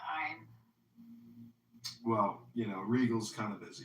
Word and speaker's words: Ayn: Ayn Rand? No, you got it right. No, you got it right. It's ein.